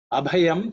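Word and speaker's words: अभयम्: In terms of pronunciation, the bha, the second letter, is aspirated because it's the fourth letter in the pa varga.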